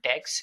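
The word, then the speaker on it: deque: again we have deck which is pronounced as dex even if it's written as d e q u e is basically an optimized list to perform insertion and deletion easily.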